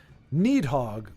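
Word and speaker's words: Níðhöggr: last game right here nehog would be a modern pronunciation A lot of the old phonetic sounds like uh the D with the beans Sprout is longer in use in modern language apart from Icelandic I'd have to check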